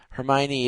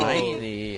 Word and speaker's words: Hermione: Hermione. Oh my I god. I really think that's how most people did it. I said Hermione, like hormone, Oh except with an E.